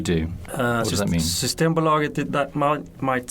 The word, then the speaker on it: Systembolaget: Systembolaget.